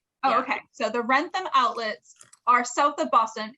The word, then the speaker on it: Wrentham: It's in a town called Wrentham, which does not sound how you say it. It is very. I'll spell it. Oh, yeah. Okay. So the Wrentham outlets are south of Boston.